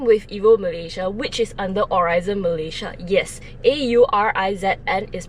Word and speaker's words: Aurizn: I'm with EvoMalaysia, which is under Aurizon Malaysia. Yes, AURIZN is pronounced Aurizon Malaysia.